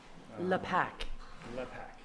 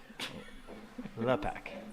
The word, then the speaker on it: LePac: LePac. LAPAC. Yeah. Yeah, we're going for the fancy pronunciation. It's LePac. Not the lay person, LAPAC.